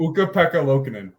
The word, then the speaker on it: Ukko-Pekka Luukkonen: Ukko-Pekka Luukkonen.